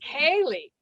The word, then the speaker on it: Céilí: So when you see C, people tend to, like the Boston Celtics, they got it wrong. There is no soft C in Ireland. The C is hard. So it's Boston Celtics, and Céilí is the word.